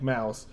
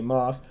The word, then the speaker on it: Maus: tier 10 heavy tank Mouse I know some people say Moss but I'm I'm pretty certain the correct pronunciation is mouse not the point if